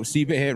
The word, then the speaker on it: CBay: So CBay rhymes with another big merchant.